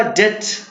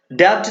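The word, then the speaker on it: debt: Next है आपका डेट, क्या पढ़ेंगे इसे, डेट, डेब्ट नहीं, क्या पढ़ेंगे, डेट।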